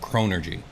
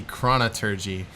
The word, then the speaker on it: Chronurgy: I want it to be Chronergy. Or Chronergy. Like thaumaturgy. I kind of like that too, but either way, it's Chronergy. Chronergy. Whatever. Hard G.